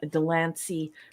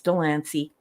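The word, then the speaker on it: de Lancie: in this episode and I know that he pronounces his name Delany but obviously that's not the way Delany is that's shouldn't be the way it's pronounced it's like very likely Danier but whatever it's Delany according to his you know that's what he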